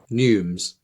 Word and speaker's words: neumes: was the recap neumes rhymes with flumes and they're just as